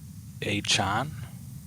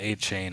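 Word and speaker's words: Achane: hear Devon I heard he pronounces his name a Chan a chain it's not it's not a chain it's like a Chan oh I was here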